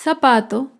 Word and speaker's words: zapato: es la palabra zapato el zapato se acentúa en la penúltima sílaba pero no lleva tilde porque termina en vocal zapatos otro ejemplo de